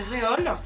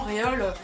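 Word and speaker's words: Reol: Alors, je la prononce à la française, hein, c'est Réole.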